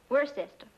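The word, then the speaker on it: Worcester: But it's spelled W O R C E S T E R. We're sister. Oh, yes. I see. Yes. Lord Worster.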